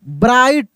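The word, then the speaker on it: bright: जी campaign ब्राइट इसमें जी H silent है।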